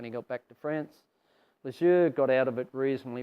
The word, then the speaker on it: Lesueur: So Perron and Lesueur were, actually they pronounce it Lesueur, but anyway, were great mates.